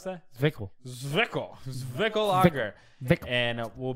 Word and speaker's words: Zwickl: How do you pronounce that? Zwickl.